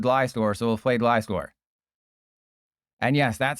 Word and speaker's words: Gliscor: no, we'll play Gliscor, because we faced someone called Gliscor, so we'll play Gliscor. And yes, that's how you pronounce it.